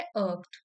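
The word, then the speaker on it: irked: Once to often bye wearing nail polish to school यहां पे अर्क की प्रोनंसिएशन लिखी है अर्क।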